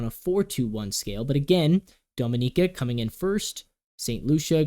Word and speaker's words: Dominica: bronze that's interesting because Dominica excuse me I keep saying it wrong Dominica Dominica um has four points